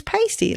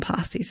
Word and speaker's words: pasty: the end of pasty no no it's pasty like you know somebody who's pale that's that's how you pronounce it you I have never heard of its a pasty hmm you know what probably probably some of the locals or the Brits might call them pass these as well so if